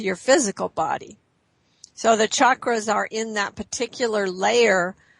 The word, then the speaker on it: chakra: and working on the chakras uh are they linked together yes because your chakras and the the way to pronounce that word is chakra it's a sanskrit word and it uh it